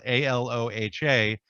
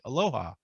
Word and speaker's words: Aloha: And then there's a town just outside of Portland that's spelled Aloha, which, most people who would see that, especially if you're from Hawaii, would say aloha. But here they pronounce it aloha.